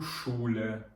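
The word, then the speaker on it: Schule: цех дає звук ш наступне слово до прикладу шуле школа шуле ми знову ж таки читаємо як ш шуле Окей А ще одне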